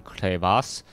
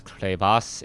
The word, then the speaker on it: Crevasse: Fanatics tt1 here on clas I believe I'm pronouncing that correctly it looks like crevice to me um but then someone's like no no no it's clas it's um I don't